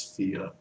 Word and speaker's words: Fe: a little bit but the rest of them correctly pronounce it as fear i think that was